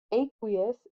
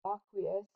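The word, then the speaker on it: aqueous: solid in water now aquous how we pronounce it or aquous people say it both ways but it sounds similar to Aqua and we know that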